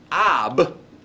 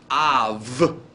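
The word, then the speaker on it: אב: And the soft B is written with a little line under it, which means that the pronunciation of this word is not ab, but Av. Hear the V sound.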